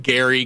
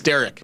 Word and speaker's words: Derek: the time i mean all my life i've been called things like gary doesn't matter still like it's derek but they're like derek who the f